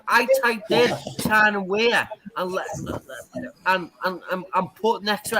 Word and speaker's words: Weir: If you were paying attention to how Tic Tac from Tyne, it's Tyne and Weir, okay, not Where, Tyne and Weir.